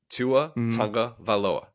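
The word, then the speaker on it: Tagovailoa: One of the guys says Tua Tunga Vailoa. I'm like, you're adding an extra syllable in there. Tua Tunga Vailoa.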